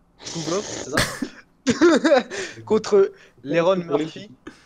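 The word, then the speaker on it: Tukhugov: La, Ouais, la là, prononciation, elle va faire mal. Zubeira. Tukukov. Tukukov, c'est ça.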